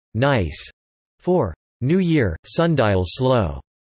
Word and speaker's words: NYSS: The mnemonic NYSS, pronounced nice, for New Year, sundial slow, can be useful.